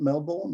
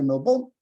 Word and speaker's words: Melbourne: In Australia, the Melbourne Cup, pronounced Melbourne, not Melbourne, Melbourne, you have to say Melbourne.